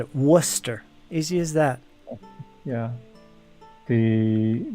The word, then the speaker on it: Worcester: this yeah but after living there it's basically pronounced Worcester that's how you say it that's how they all said it Worcester easy as that yeah the the names Paul